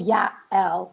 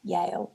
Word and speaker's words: Yael: So this one is called Yael, not Yale. So Yael. Y-A-L. Pronunciation's key.